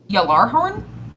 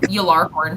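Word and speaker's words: Gjallarhorn: Galar horn? Gallar horn. Sorry, what? DJ? Gallarhorn. Yalar horn? Yeah, it'd be a Yillar. Jay makes a Yeah, she's yeah. gonna pull out her little Yalar horn.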